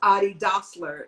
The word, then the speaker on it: adidas: know that's how they how it's technically pronounced because it's a person's name it's adi doctler and it's it's shortened